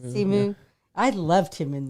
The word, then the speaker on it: Simu: Simu.